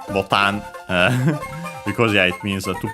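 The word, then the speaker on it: ボタン: After that, we have botan, again, unaccented, similar to English, but it's actually the Portuguese word botao.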